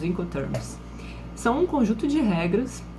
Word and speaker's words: Incoterms: coisas então mude de gente acaba falando incoterm mesmo mas o correto é a pronúncia correta são os encontros são um conjunto de